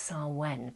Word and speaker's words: Samhain: Now, I'm aware that if you're in the southern hemisphere, you are actually celebrating, I believe it's pronounced Samhain, but Samhain is how it kind of looks when you write it.